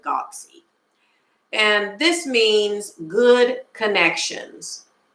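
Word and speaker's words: guanxi: of Chinese culture is I'm gonna spell it and then I'm going to say it GU a in X I now I may or may not be pronouncing this right but I pronounce it Godsey and this means good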